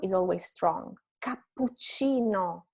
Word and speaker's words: cappuccino: Cappuccino, two double consonants, so PC.